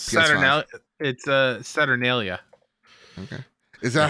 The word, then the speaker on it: Saturnalia: I wish I could pronounce that. It's Saturnalia.